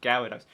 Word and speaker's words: Gyarados: yeah, because you just skip over the Y. It's just Gyarados.